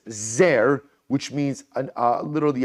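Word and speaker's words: זר: means stranger or alien we vocalize it we pronounce it as zer which means an uh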